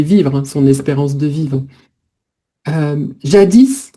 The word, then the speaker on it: jadis: jadis. Donc on prononce toujours le S, hein, ça veut dire autrefois.